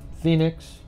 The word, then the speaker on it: Phoenix: On behalf of my son, Phoenix, pronounced like the city, who I raised on my own, no child support, the smartest, most decent and common sense-oriented 27-year-old, so witty.